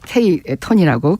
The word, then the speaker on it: KT: 그러나 이 메가톤급 핵폭탄은 안 써도 오히려 작은 핵 10톤급 미만 뭐 이거를 KT를 뭐라고 발음하죠? 이제 K 톤이라고 킬로그램 톤 뭐 이렇게 그래서 군사기지나 그러니까 비대칭이죠.